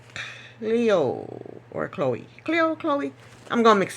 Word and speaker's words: Chloe: I either want to say Chloe or Cleo. Cleo? It's Chloe. Chloe.